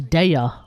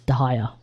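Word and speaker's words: Dehya: With Dia, I mean, I would have thought it was Dea, honestly.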